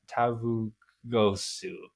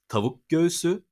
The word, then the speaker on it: tavuk göğsü: Tavugosu. Oh. I love his pronunciation. So it's tavuk göğsü, which means chicken breast.